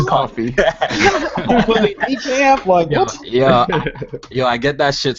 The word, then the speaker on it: Kofi: Thanks for having me on, Coffee, and yeah, let's talk some games. Yeah, it's pronounced Kofi. Yeah, my bad. Nah, it's Coffee.